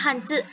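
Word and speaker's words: 汉字: HNZI, bacanya Hanzi. Jadi ZI ini dibacanya jadi CE.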